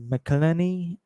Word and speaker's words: McElhenney: And the creator of that show, Rob, I don't know how to pronounce his name. It's Rob McElhenney, and his name equals 266, and is born on 14th of April.